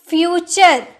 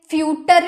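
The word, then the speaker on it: future: फ्यूचर, URE आ रहा ना, URE आ रहा, तो इसे फ्यूटर नहीं पढ़ेंगे, फ्यूचर पढ़ेंगे, फ्यूचर, भविष्य।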